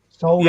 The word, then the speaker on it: solder: Solder. Yeah. You pronounce because the L. it's spelled SOLD, sold, Yeah. ER, soldering. Right. Yeah. I say L is silent.